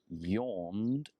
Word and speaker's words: yawn: it rude if I yawned any class the a for yawn sounds like the letter O so no yeah and not with a J so it's a yes yellow yawn yond in class nope